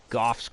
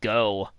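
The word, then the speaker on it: Gough: And it's obviously meant to be a pun on Vincent van Gogh.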